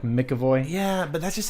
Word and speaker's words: McAvoy: James McAvoy James McAvoy I say McAvoy even though there's no m.a.c yeah it's more like Mickey boy yeah but that's just